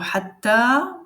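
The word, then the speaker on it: حتى: On la prononce comme si c'est alif. Ça s'appelle alif maqsoura. Elle peut s'écrire à la fin du mot. Donc, il y a le mot hatta. Donc, elle se prononce exactement comme alif de prolongation.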